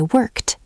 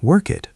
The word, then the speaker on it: worked: I worked. That little t sound at the end changes the whole meaning of your sentence.